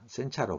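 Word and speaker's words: 煎茶: 그리고 일본인이 가장 즐겨 마시는 차는 입차인 전차, 센차로 발음하죠. 와 가루차인 말차, 마차.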